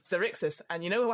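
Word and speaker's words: Xaryxis: this life obsersious uh lights are zerixis that is what it's called really is it is it is cyrixis and you know how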